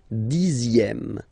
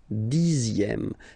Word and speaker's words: dixième: Le dixième, so remember, even if you've got this Z, X here, you pronounce it Z, dixième, dixième, same thing as we had here, sixième, okay, le dixième, la dixième.